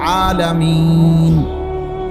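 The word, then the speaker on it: العالمين: শরীফে আছে আলহামদুলিল্লাহি রব্বিল আলামিন এইযে আলামিন এ শব্দটার নুনের মধ্যে জবর তাহলে মূলত হবে আলহামদুলিল্লাহি রব্বিল আলামিনা কিন্তু আপনি মিনা কেন কন না এজন্য যে আপনি নিশ্বাস ফেলাইছেন মানে এনি শ্বাস ফেলছেন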